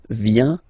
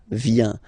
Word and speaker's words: vient: Final T not pronounced. Il vient, elle vient.